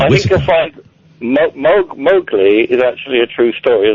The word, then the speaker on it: Mowgli: I don't know how it's pronounced. Okay. It's Mowgli, It's isn't just it?